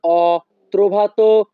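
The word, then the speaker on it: ho: Italian ভাষা হবে known অত্র লাভরু এখানে এইচ ও এর উচ্চারণ হবে অ ইতালিয়ান ভাষা নোন অত্র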